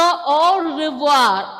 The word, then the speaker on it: au revoir: Okay, so au revoir. I am not pronouncing r sound there. Instead, I am pronouncing ra. Ra sound is coming here. Malayalam letter ra sound.